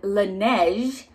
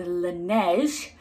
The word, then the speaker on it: Laneige: product it is the lineage last time i got something for this brand i very mis correctly pronounced this brand i know better now it is the laneige glowy makeup serum so